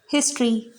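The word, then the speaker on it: history: जैसे हिस्ट्री, हिस्ट्री एच से start है लेकिन यहाँ पर एच को साइलेंट नहीं रखा गया है, एच का प्रोनाउंसिएशन हमने किया है। हिस्ट्री बोलेंगे इसको, हिस्ट्री नहीं बोलेंगे।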